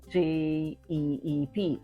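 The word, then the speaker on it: dyip: English you say gep j e e p in Filipino well you say d y i p and you pronounce it as Jeep okay so um Jeep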